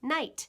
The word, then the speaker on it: night: For instance, in the word night, like at night I sleep, the GH is no longer pronounced, but it once indicated a real sound.